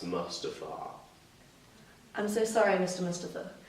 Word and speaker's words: Mustafa: Mustafa. Actually, it's pronounced Mustafa.